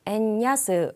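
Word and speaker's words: 円安: n 야스 라고 합니다 n 저는 애니 아스 라고 읽으시면 되고요 자 엔고 에 따라서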